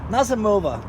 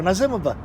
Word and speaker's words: Nazimova: And then we've got Nazimova, or Nazimova, depending on your point of view. I've heard people pronounce it both ways. I say Nazimova.